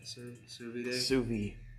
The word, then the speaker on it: sous vide: Sous vide.